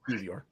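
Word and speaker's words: Kiwior: No, the W is pronounced like a V. It's Kivior.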